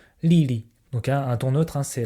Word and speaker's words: Lili: C'est-à-dire que le premier c'est li et le deuxième se prononce en ton neutre. Lili.